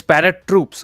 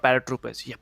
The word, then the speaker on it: ParaTroops: he please parrot troop okay it's parrot troops okay okay okay i'm sorry but is it is it paratroops let me just say yeah it's parrot troops it's not paratroopers i think i was